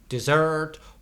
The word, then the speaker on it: dessert: you ask for dessert with the stress on the second syllable dessert and SS and